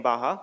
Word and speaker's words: Baja: though it's written Baja it's pronounced as Baja because it's a Spanish word so let me tell